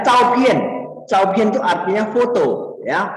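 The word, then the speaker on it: 照片: A itu bacanya Chao-Pien.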